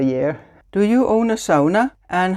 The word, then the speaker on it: sauna: question by the way SAA is a Finnish word I know lots of people pronounce it Sona but I pronounce it the way it's supposed to be pronounced in Finnish yeah I'm in my